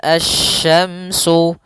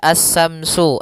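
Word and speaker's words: asy-syamsu: asyamsu Wal qamaru biusban pada lafal asyamsu di sini ada alif lam syamsiyah yaitu alif lam yang ditulis tapi tidak dibaca sehingga bacaannya langsung ke huruf syin nah kemudian kita juga harus hati-hati dalam pelafalan huruf syin Jangan dibaca assyamsu assyamsu Wal qamaru bukan atau juga Samsu dengan tsa bukan karena di sini huruf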